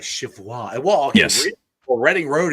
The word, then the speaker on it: Cheviot: You have to pronounce it like Chivwa.